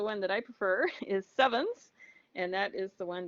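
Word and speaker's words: CEvNS: all to spread the meme of using the pronunciation sevens okay so that is a side note okay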